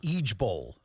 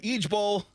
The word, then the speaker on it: IJBOL: But you pronounce it Eej Bowl. What? Yeah, you go Eej Bowl.